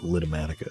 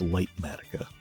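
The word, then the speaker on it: Litematica: I I keep calling it litmatica. It's lightmatica. I don't know why it would be pronounced LA. That's supposed to be a light version of the schematica.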